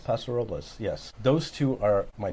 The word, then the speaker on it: Paso Robles: But the other one in California is, my wife's going to kill me because I can never say it right, Paso Robles? Paso Robles, yes.